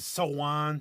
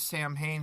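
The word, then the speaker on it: Samhain: But some people pronounce it Sowan, Sam Hain, but English people pronounce it Sowan. So on, or I was thought it was like Sam Shemaine. Hain, yeah, Shemaine. Donald Pleasance in the second original Halloween, he said it was Sam Hain, but that's not how it's pronounced.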